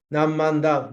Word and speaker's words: Namo Amida Butsu: In this country, Namo Amida Butsu is the easiest phrase we could utter, because Namo Amida Butsu is pronounced as Nammanda, mom and dad, mom and dad.